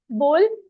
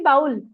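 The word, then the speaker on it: bowl: बोल, देखो स्पेलिंग होती है बाउल, बट इसको हम प्रोनाउंसिएशन इसका होता है बोल, मीन्स कटोरा।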